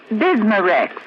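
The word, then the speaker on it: Bisma-Rex: have to remember that bismar Rex is that how you say it that's right ma'am b i s m a hyphen reex bismar X ask for bismar X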